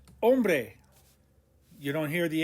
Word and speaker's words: hombre: doble point number six the h is in orange because it's silent and not ever pronounced the word for man is ombre h-o-m-b-r-e ombre you don't hear the